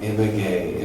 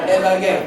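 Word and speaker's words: Ibagué: But I was just saying, Ibague, Pero solamente está repitiendo Ibague, Ibague.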